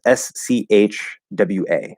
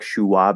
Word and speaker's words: schwa: find myself making yeah this s-c-h-w-a that's how we pronounce i know it sounds like kind of like shuwa but it's not sure anyway it doesn't